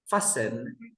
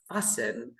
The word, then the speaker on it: fasten: And with the T, okay, they are more common, like mortgage, mortgage, mortgage, fasten, fasten. We don't pronounce the T, okay? Fasten.